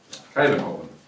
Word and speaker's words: Kuyvenhoven: Kuyvenhoven? That's pretty good. It's a shot in the dark. Yeah. Kuyvenhoven.